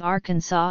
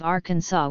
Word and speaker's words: Arkansas: south wind in 1881 the pronunciation of Arkansas with the final s being silent was made official by